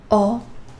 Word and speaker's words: ho: And yes, H, H is silent. Io, ho, tu, hai, lui, lei, ha, noi abbiamo, voi avete, loro hanno.